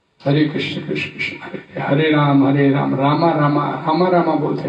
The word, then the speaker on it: राम: तो कृष्णा तो द्रौपदी का नाम है, राम का नाम रामा नहीं है, राम है।